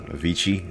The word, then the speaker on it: Avicii: this named the the producer Avicii that's how you say his name I made